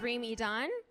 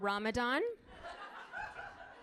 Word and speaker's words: Reem Edan: My name is Reem Edan, or as white people pronounce it, Ramadan.